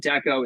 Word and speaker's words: d'Ecco: the same exact name art the echo or the echo but I was just like no let's just pronounce it Deco and spell it like